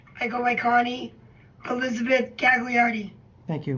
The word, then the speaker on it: Gagliardi: I go by Connie Elizabeth Gagliardi. Thank you. But the G is silent, so it would be like Gaiardi.